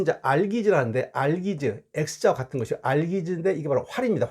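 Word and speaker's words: Algiz: 이것은 이제 알기즈라는데 X자와 같은 것이 알기즈인데 이게 바로 활입니다. 활. 됐습니까? 둥그런 활을 뜻이고, 발음은 알기즈라고 있는데 이게 바로 X자와 같은 겁니다.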